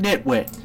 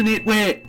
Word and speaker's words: Nitwhite: Silent E on the end makes the I say its name.